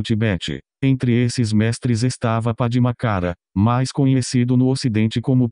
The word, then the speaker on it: Padmakara: Padmakara deve ser pronunciado com a ênfase na segunda sílaba, que tem um som de A mais que na verdade